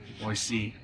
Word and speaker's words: Boise: I said it right, Boise.